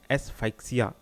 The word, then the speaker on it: asphyxia: Pronunciation देख लीजिएगा, ये क्या है? एस्फाइक्सिया, ASPHYXIA.